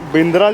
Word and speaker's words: बांद्रा: पर बांद्रा नहीं है, बिंद्रा लिखा है ना। बिंद्रा क्यों लिखा है? वो इसलिए कि ये स्पेलिंग में बिंद्रा ही आता है। अच्छा। अंग्रेजी का कुछ अलग ही ट्रांसलेशन, हिंदी और अंग्रेजी में ट्रांसलेशन अलग हो जाता है। अंग्रेजी में भी बांद्रा ही बोलते हैं दादा।